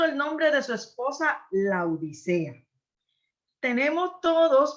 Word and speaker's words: Laodicea: nombre de su esposa Laodicea. Tenemos todos, porque a mí también me pasa, Dalia, de decir la Odisea, pero es un nombre propio, la Odisea. Yo tuve que trabajar duramente para poder pronunciarlo corrido.